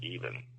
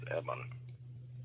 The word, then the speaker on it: EBE: Yeah, but he didn't pronounce it even. What did he say? He said it was Eban.